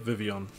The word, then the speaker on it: Vivillon: that's cool nice and after the vivillon that's how you say it vivillon remember when they had